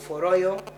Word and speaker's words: Royal: Royo, the one for Royo. You spell it Royo. It is ROYAL.